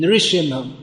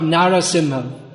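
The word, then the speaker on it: Nrisimha: already say narasimh but here we see it's written nirishima not narasimha now we may think it sounds better but this is from shastra so we should sing not narasimha we shouldn't change the words of shastra hindi speakers usually say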